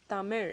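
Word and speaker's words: தமிழ்: the sound are well the actual language itself tamir it's actually pronounced as the mayor okay it ends with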